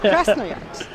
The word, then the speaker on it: Krasnoyarsk: Krasnoyarsk.